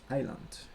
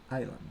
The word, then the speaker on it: island: Okay, don't forget that we pronounce island. Okay, island.